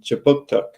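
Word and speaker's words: K'jipuktuk: But before we begin, I'd like to acknowledge that Right Start Newcomer Services conducts business in Chipuktuk, which is how you say Halifax in the Mi'kmaq language.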